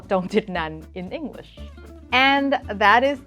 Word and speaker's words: Chongchitnant: And for the record, my last name is pronounced Chongchitnant.